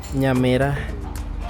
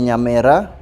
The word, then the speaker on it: Nyamera: Nyamira. Is it an I or an E? E. No. I would say Nyamera or Nyaminwa.